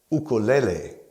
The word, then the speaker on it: ukulele: is Hawaii or more correctly Hawaii and it's pronounced ukulele or shortened to Guk let's name the parts